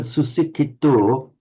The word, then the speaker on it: susikkito: Now, pronounce that, if you would kindly, Usha, just that word Susikkito, as if it were a pure Punjabi word. Susikkito. You pronounce that with a short O.